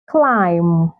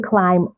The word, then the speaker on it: climb: have Lim Li W so you can see that this words have the letter M come before the letter B so in most cases when you have words like this that have the letter M come before the letter B the B is usually silent in most cases maybe